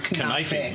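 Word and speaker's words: kanafeh: the word knife, but you're pronouncing like a K and then E at the end could be silent, or it could be or E, so like you're kanafe.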